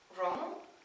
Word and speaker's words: wrong: znamená špatný nebo chybný dvoj TV se před R zase nečte a z prvního typu na anglickou výslovnost už jistě víte že G se také nečte pokud je za n což tady přesně je a proto se toto slovo vůbec nečte jako wrong ale jako wrong tedy je to docela